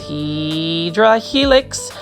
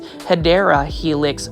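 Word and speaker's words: Hedera helix: And take a look at this Hedra Helix. This one is the correct way to say it is Hideera Helix Florida um ivy.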